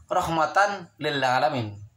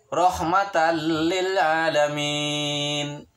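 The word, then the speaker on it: رَحْمَةً لِّلْعَالَمِينَ: Tulisannya adalah rahmatan lil alamin. Rahmatan lil alamin, tapi dibacanya harus rahmatan lil alamin karena tanwin ketemu sama huruf lam. Lam bagikan seakan-akan bertasydid, bukan dibacanya rahmatan lil alamin. Salah besar jika begitu.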